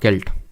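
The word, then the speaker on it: celt: काल में what is a sailed और केल्ट तो एक्चुअल में सेल्ट इसको प्रोनाउंस करेंगे तो ये एक तरह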